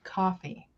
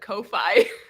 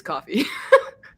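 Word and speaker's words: Ko-fi: me that it's pronounced coffee oh shut up I mean it makes sense because it's buy me a coffee but I have always said Kofi yeah I mean I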